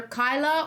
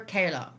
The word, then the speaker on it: Kayla: no better way um people do pronounce my name either kyla or kayla now i never really knew my mom just calls me kayla but many people said kyla because it's not k-y-l-a